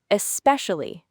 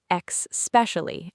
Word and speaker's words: especially: Many people say X specially adding an X sound at the beginning. But there is no X. It starts with an E. S Pesh alley.